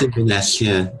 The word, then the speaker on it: Inverness: One question for you: did I pronounce Inverness right, or how's you that did? said? Yeah, it's Inverness.